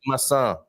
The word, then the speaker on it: massa: I should say massa. Yeah. Massa perfeita. Otherwise, it's pasta. That's something different. That's pasta.